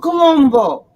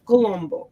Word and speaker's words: Colombo: columbus my dad used to always say it's pronounced cristofolo colombo okay how he would say it it's you